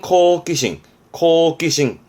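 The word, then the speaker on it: 好奇心: 호기심, 발음은 코기싱.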